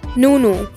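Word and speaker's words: ނ: Nunu, which makes the N sound like in no, but it is pronounced with the teeth.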